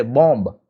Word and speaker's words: bomb: We always say bomb. It's not bomb.